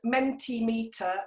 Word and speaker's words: Mentimeter: what what's it called again how do you spell it that one is called mentee meter which is m e n t i m